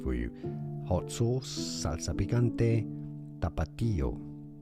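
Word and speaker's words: Tapatío: Tapato. The last word is uncle. I mean, Theo is uncle. Theo. Tapato. You could probably pronounce that tapato. There's normally an accent on the I you need to stress on that.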